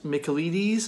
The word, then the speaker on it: Michaelides: silent patient by Alex Michael Eady's I'm guessing that's pronounced Greek name but with Michael in front of it the silent patient